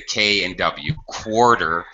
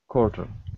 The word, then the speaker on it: quarter: say it with the K and W quarter but I will tell you most English speakers reduce pronunciation and we just say like core quarter quarter without the W sound quarter okay quarter dro